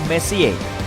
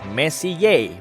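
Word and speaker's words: Messier: M adalah singkatan dari Messi diucapkan Messi bukan mess yang artinya lebih berantakan Charles messie persisnya adalah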